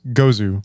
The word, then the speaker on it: Gose: no, it's Gozu, like Gose Zuh is how you pronounce Gose.